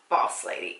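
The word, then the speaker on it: Bawse Lady: Okay, and now we're on to the very last color that I purchased, and this one is Boss Lady, and that's spelled B-A-W-S-E, Boss Lady.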